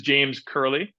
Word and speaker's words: James Curley: So this is James Curley, and I think I pronounced that correctly.